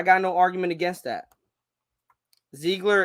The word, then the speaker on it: Ziegler: Ziegler is how it's pronounced, my brother. Oh, Ziegler. Oh, not Ziegler.